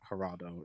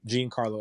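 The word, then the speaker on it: Giancarlo: i won't say geraldo it's not haraldo it's uh gene uh gene gene carlo esposito i got to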